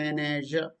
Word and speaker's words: manager: very simple and manager we say it's not manager manager ma ah like in january okay you can write